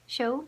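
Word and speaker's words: seó: like show her show so it's spelled differently show but it sounds the same as in English it's brown a show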